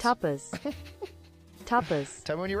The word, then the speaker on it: tapas: stopping how you stop i wouldn't use the british pronunciation for this one to be honest here we go tar pause yeah click it but